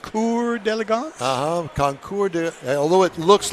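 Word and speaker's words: Concours d'Elegance: you really pronounce conour deagon the way it's pronounced conour delance uhhuh conour although it looks like conour d Elegance no it's not uh that's maybe the hillbilly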